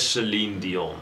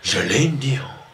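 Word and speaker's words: Céline Dion: It is Celine Dion, not Celine Dion.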